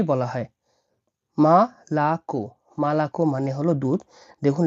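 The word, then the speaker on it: молоко: এর লাস্টের ও যেটা আছে এটা উচ্চারণ হবে ও হিসেবে। তাহলে এই ওটা খুব বিশেষ ক্ষেত্রে ও আর অনেক ক্ষেত্রে এভাবে ব্যবহৃত হয়ে থাকে। তাহলে মালাকো মালাকো।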